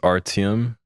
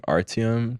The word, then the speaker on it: Arty: just like found that just saying artium just gives a lot of like huh reactions so I just Ry okay simple it's like two letters like R and T